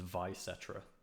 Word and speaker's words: Vysetra: I guess, based on what I said, neither. I typically pronounce my username as Vysetra, but the amount of times I've had different pronunciations is, yeah, like Vysetra.